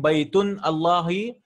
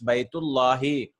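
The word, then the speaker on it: بيت الله: If anyone is reading Baytun Allahi, wrong. Baytun Allaha, wrong. Baytun Allahu, wrong. It's Baytullahi. Always.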